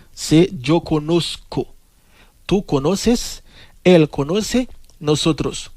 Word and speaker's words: conozco: Pingano dit yo conozco. Pas prononcer Z dans tant que Z en français, mais sinon c'est un couillon S. C'est yo conozco.